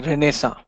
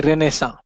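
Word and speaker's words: Renaissance: happened that that something is known as a renessa this is how you pronounce it a renessa what was the initial it refers to a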